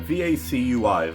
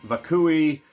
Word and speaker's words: vacui: I can't pronounce that v-a-c-u-i vacui vakui vacui vasui vacui I think it's vacui horror vacui I know what